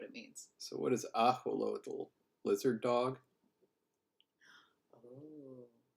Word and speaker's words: axolotl: So what is axolotl? Lizard dog? Oh. Like, birds have turkey for Christmas, right? Is watered. Oh my gosh. X is sh in Nahuatl. It's axolotl.